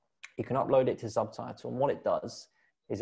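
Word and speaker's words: Zubtitle: through it with you called subtitle which is spelled z-u-b-t-i-t-l-e that's a great platform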